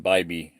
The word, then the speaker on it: Bybee: john what's his name john bybee should be the correct english if you use normal phonics okay so john's been